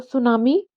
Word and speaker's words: tsunami: होती क्या है तो सुनामी जो शब्द है उसमें टी साइलेंट राहत है और ये एक जापानी